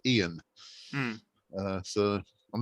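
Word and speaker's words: Eoin: also in Scotland um a lot of people have the um the Irish spelling of the name but they pronounce it Ian uh so I'm not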